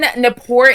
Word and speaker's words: Gnapoor: Because if you don't remember who Kevin Napor is, I don't know if I have faith in humanity anymore, Chase. The G is silent.